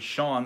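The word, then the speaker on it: Chone: Paul Else is pronounced like Sean, so Sean Figgins.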